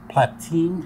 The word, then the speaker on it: Platine: I tend to use exhibition fiber, Merida, or platine. How do you pronounce that?